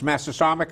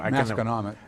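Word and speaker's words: Masconomet: There's Massasomic, is that how you say it, or whatever, Massacomic? Masconomic. That's it.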